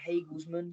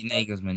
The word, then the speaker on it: Nagelsmann: is it Hagelsmann? Is that how you say his name? Nagelsmann, yeah.